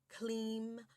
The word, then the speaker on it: Kleem: It's Om, I'm, Kreem, Shreem, Kleem, maha, lakshmi, swaha.